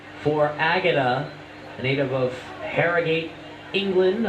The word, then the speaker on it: Harrogate: So the second try of the game for Agata, a native of Harrogate, England. I hope I pronounced that correctly. That's Harrogate. Harrogate, yep.